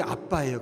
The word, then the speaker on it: 아빠: 여기 아빠가 이제 이게 발음 자체가 이게 아빠예요. 그냥 아빠가 히브리어든 헬라어든 다 동일한 아빠입니다. 그러니까 얼마나 표현이 참 의미가 있죠.